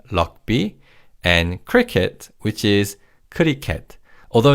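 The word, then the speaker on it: 크리켓: rugby which is lock and cricket which is kuriket.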